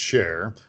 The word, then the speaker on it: Shaar: that is it's actually spelled s-h-a-a-r but they're pronouncing its share like the gal that used to be with